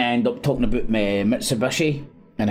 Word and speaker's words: Mitsubishi: Japanese often bend the H sound to a B which when it occurs in the middle of the word together, combination of Mitsu and the Hishu pronunciation as Mitsubishi.